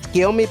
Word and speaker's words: Tsukuyomi: It's pronounced as Skiomi, but yeah, the Picado version of Skiomi. Oh, that's how you pronounce it? Oh. Okay. Yeah, because So it's- because in Japan the U when the U and the S are together, the U is silent.